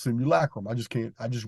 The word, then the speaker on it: simulacrum: the construct itself which I call the similar Chrome which is properly pronounced simulacrum I just can't I